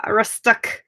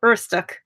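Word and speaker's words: Aroostook: to Presque Isle, Maine, up to Rustuk, or Urstuk. That's how you say it.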